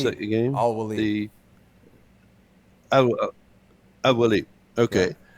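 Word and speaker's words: Al-Waleed: How do you pronounce that again? Al-Walid.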